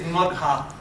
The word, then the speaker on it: Magha: Correct way to say it is Magha. Most of these nakshatras are names, and they're in female form because the nakshatras are feminine. So put a long sound at the end of every name, and then you're closer to saying it right.